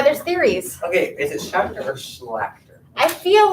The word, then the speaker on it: Schachter: Okay, is it Schachter or Schlachter? I feel like it's Schrachter. Schlachter. You say Schlachter, but it's spelled Schachter.